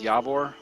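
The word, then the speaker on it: Javor: The chieftain is Yavor, spelled with a J, of course. Yavor, Finor.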